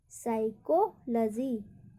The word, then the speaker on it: psychology: PSYCHOLOGY, साइकोलॉजी, साइकोलॉजी, यहाँ पर भी पी का उच्चारण नहीं होगा।